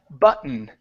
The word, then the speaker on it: button: we use for that we say instead of but button it's button button uh where I'm sorry